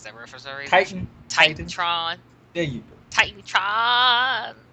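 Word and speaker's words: TitanTron: that correctly forgive me titanon TR I can't pronounce that reference Titan Titan Tron there you go Titan Tron okay Titan Tron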